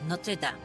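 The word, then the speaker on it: Notre-Dame: as well g i I already feel bad of how I pronounce that it's Notre Dam there we go Notre Dam Kabam fery says it's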